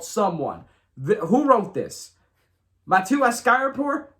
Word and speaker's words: Sumwun: This is spelled SUMWUN, and it's called Someone.